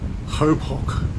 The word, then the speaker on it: Chopok: The place here is called Hopok in Slovak, even though it's spelled more like Chopok to us.